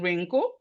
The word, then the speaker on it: wrinkle: The W is silent in wrinkle.